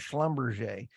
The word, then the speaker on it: Schlumberger: only SOB is slumberger uh SLB known as Schlumberger that's one of the few things I can actually pronounce correctly uh until three and a half